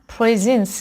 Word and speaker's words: presence: مثلا اینجا فرضاً presence استرس روی اولش قرار میگیره، یا مثلا chamber استرس روی اولش قرار میگیره.